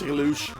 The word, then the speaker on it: Reluge: You can pronounce it in many languages, which makes it actually cool. If you say it in Belgian, it's Reluge. So we're gonna now watch a Padua with Reluge.